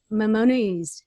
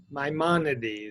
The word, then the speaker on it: Maimonides: philosopher in the 12th century i can't remember mamonu's how do you pronounce that maimonides maimonides the uh spanish moroccan-born uh rabbi physician